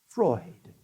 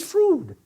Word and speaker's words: Freud: The well-informed pronounce it Freud, whether to cavil or applaud. The ill-informed pronounce it Froude, but I pronounce it fraud.